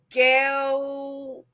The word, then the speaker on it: Miguel: It'll be Miguel. No, you finish the first syllable. Me. The first sound of Miguel is me.